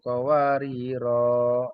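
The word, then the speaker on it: قَوَارِيرَا: Nah, tapi kalau dibaca waqaf kawariro, rohnya panjang.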